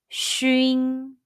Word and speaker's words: xun: When you see xun in pinyin, how would you pronounce it? The answer is shun.